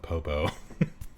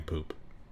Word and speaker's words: Popo: Or as many people like to mispronounce my name, poop. Mr. Poop. They call me Mr. Poooooooooooooooooooooooooooooooooooooooooo or Mr. Poop. They always forget it's popo.